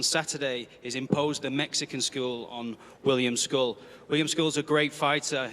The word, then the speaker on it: Scull: William School, the reigning IBF 175B champion. And just for for clarity, William, it's school, right? We're go William School with the pronunciation. School.